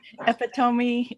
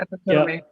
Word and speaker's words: epitome: Well, one word that I learned only through reading and mispronounced for like a decade was epitome. I would say I would say it phonetically in my head for years.